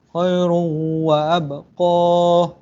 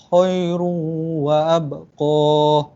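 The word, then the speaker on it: خَيْرٌ وَأَبْقَى: Cara bacaannya khairun wa abqa. Khairun wa abqa. Khairun wa abqa. Itulah, bukan khairun wa abqa. Dia tak boleh. Dia kena dengungkan.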